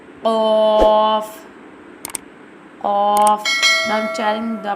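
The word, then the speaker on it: ق: Qaf pronounced from the root of the tongue touching the soft part of the palate, top of the mouth. Like this. Qaf. Qaf.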